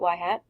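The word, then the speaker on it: ŷ: a regression line it's y hat you pronounce that y hat equals a plus BX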